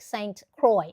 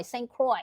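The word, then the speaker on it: St. Croix: done Ronnie Catat I love that it is pronounced like Saint Croy. All right. Croy. St. Croy. Yes. St. Croy, US Virgin Island.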